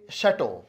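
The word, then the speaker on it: château: और हॉर्डिड यानी छिपाया हुआ, इसका उच्चारण आप करेंगे शैटो।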